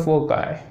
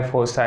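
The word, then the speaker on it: foci: और with the sun eight one ऑफ द फोकाई, ठीक है, फोकाई फोसाई है ना, जैसा आप प्रोनाउंसिएट करते हो, ठीक है, विद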